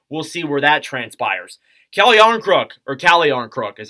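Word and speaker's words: Calle Järnkrok: Calle Jarnkrok is how you actually say his name.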